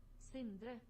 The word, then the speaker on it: Sindre: Pronunciation. Oh, it's Norwegian. Sindre.